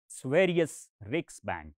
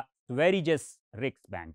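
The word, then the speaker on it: Sveriges Riksbank: से पता चलता है वह है स्वेरिज रिक्स बैंक या स्वेरिज स रिक्स बैंक इसको दोनों तरह से प्रोनाउंस कर सकते हैं यह बेसिकली बैंक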